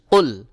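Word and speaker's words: قُلْ: করি কফ লাম পেশ কুল এখানে কফ লাম পেশ কুল কফের উচ্চারণ একটি শক্ত করে চাপ দিয়ে উচ্চারণ করতে হবে কারণ এই জায়গায় যদি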